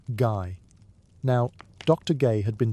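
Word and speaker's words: Gey: by a researcher named Dr. George Gay, pronounced guy.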